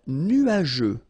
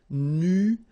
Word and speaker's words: nuageux: Un ciel nuageux. This can be quite tricky, but take the time to nuageux. Remember, final X here, not pronounced.